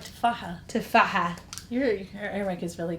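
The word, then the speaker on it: تفاحة: Tufaha.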